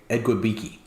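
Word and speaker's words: Igwebuike: I don't even know who you're asking me to pronounce. The running back, man. Come on. This is your job. Ekwubike.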